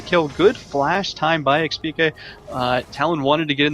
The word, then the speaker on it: xPeke: Also, I just got to remember, technically speaking, it's xPeke. Technically the way it's meant to be pronounced.